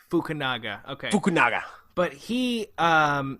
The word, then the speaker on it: Fukunaga: name it's easy it's carry Joji Fukunaga get it right Fukunaga okay good naga but